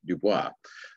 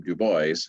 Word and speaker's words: Du Bois: One would normally expect the name of the author of the text I'm about to be discussed to be pronounced Du Bois, but he was from Philadelphia and pronounced his name Du Bois, and so that's the pronunciation I'll use.